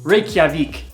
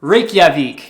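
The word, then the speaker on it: Reykjavík: likely be flying into a see if I pronounce this correctly Reykjavik was that right I feel like I was right Reykjavik that's where you'll probably be flying into Iceland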